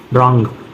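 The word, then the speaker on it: wrong: पढ़ते हैं नेक्स्ट है अगर आर से पहले डब्लू आता है कभी भी आर से पहले डब्लू आ जाए तो डब्लू साइलेंट होता है जैसे देखो रंग राइट रप नेक्स्ट एक्स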